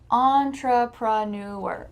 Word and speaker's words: entrepreneur: And finally, one of the most requested words was entrepreneur. Entrepreneur. Let's break this long word down. On. Tra. Pra. New. On. Tra. Pra. Newer. Entrepreneur, entrepreneur, entrepreneur, entrepreneur, entrepreneur, entrepreneur.